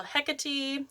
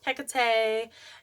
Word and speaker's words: Hekate: There's multiple ways to say it. So Hecate, Hecate, Hekate. I feel like that one is most powerful.